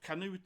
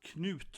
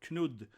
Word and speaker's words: Knut: And of course, Canute is pronounced Knut, right? Or Knud in Danish.